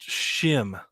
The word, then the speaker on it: Schim: I Oh, think it's pronounced Shim. Shim. How do you spell it? Schim.